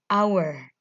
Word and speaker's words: hour: menit ke selanjutnya ada hour ini hanya tidak dibaca ya Ini bacanya our our itu artinya jam jadi